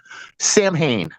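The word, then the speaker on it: Samhain: Equinox but the uh the saan festival saan uh I'm pronouncing it wrong I might as well just say it the way English-speaking people do now Sam Hayne here's what they did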